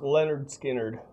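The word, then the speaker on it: Lynyrd Skynyrd: Pronounced Leonard Skannard.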